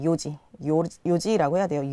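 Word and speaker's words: 四時: 그것처럼 시간을 이야기할 때도 내시는 요지가 아니라 시지도 아니라 요지라고 해야 돼요. 요지.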